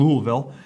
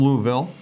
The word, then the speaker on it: Louisville: They said, well, if you stuff a newspaper in your mouth and say Louisville, that's kind of how they say it. Louisville. Yep. Louisville, oh, yep. Right? Almost like there's an extra L right in there.